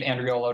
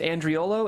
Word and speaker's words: Andriolo: your website again it's just my name and rio low comm so if you google me it open yep just so for our audio listeners Andreo low is spelled a and dri o l